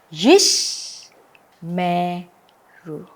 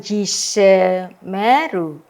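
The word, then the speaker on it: ישמרו: Yish me ru. Ya. Jadi yang di sini sewanya tidak dibunyikan ya, jadi yish me ru, bukan yise meru tetapi yish silent baru meru ya jelas di sini?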